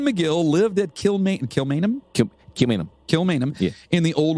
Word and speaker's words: Kilmainham: wanted to say that one more time it's kilmainham cheminum camino kilmainum that's how you just pronounce it i like how you do it